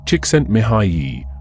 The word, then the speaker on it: Csikszentmihalyi: in the 1970s psychologist ment M pronounced chent miay made a fascinating observation